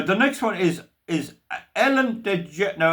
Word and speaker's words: DeGeneres: Now, the next one is Ellen DeGeneres. Now, I'll spell it DEGENERES. I pronounce it Ellen DeGeneres.